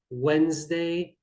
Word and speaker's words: Wednesday: should be pronounced differently now silent letters yes please stress them enough on the board cross out the letter and say that we do not pronounce this one be very careful in this example we have island wednesday be careful to cross out the letters and of course focusing